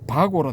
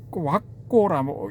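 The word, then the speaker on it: vagga: 바고라 되어 있는데 왁고라고 읽어야 된답니다.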